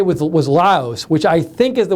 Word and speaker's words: Lao: Laos, Macintosh Geek says Laos is pronounced Laos with an S. Lao is pronounced Lao. The Lao people live in Laos. 2 different words with different meanings.